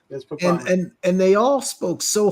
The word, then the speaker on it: Papale: Papale. Yes, Papale.